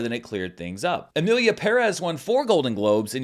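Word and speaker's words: Emilia Pérez: corrected and rightfully so because the accent mark is right there it's Amelia Perez but nobody seemed to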